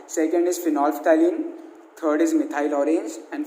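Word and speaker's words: phenolphthalein: आपको इसका नाम याद रहना चाहिए, और इसका प्रोनाउंसिएशन मैं वापस बता रहा हूँ, फिनोल्फ्थैलीन है।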